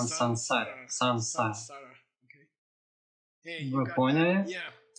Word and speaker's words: saṃsāra: Сансара. Вы поняли? Да, произношение сансара. Что означает этот значок внизу? Пожалуйста, не произносите это как самсара.